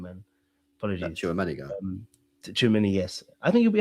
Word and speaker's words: Tchouaméni: I think he'll be ahead of sorry, how do you pronounce his name, man? Apologies. Tchouaméni, yes.